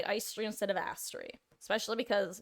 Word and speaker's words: Aestri: It's pronounced Aestri.